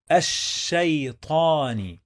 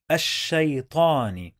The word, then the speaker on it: الشيطان: When we add al to any word starts with sheen, we don't pronounce the lam.